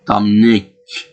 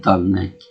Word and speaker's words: Dominic: The kind of great bad guy now, Dominic Toretto, which Dominic should be pronounced with the K at the end, Dominic, instead of Dominic. But Spanish variation, I guess.